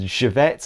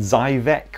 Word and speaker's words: Żywiec: properly, like Okasim and Żywiec. I think Żywiec I was calling Zywiec or something like that, until the bartender started pissing his pants.